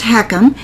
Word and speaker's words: HECM: What is a home equity conversion mortgage? Pronounced heckham.